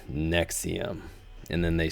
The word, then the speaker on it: NXIVM: earth do they have a sex cult that is pronounced the same as a pill the 69th most prescribed